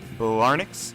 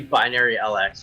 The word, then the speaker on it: Binary LX: He's a lighting designer and director with his own company, Blarnix. Is that how you say it, Eric? It's actually Binary LX. It's a terrible name for it. But See? yeah, it's called Binary LX.